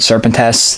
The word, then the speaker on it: Serpentes: this is the black serpent s I'm sure somebody's gonna say I'm probably pronouncing it wrong but from when I looked up on Google Translate serpent tests that's how you say it that's the way it's